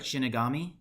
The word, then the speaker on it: Shinigami: Am I pronouncing it right? Shinigami? Yep.